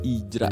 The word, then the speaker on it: Hijra: Dan orang India menyebut gender ketiga itu dengan sebutan Ijra. Ya, tulisannya sih hijrah ya, tapi dibacanya tanpa huruf H. Ijra jadinya.